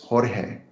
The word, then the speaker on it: Jorge: And so I just say this, that my name is George, but it's spelled with a J. So really it's Jorge, but I go by George.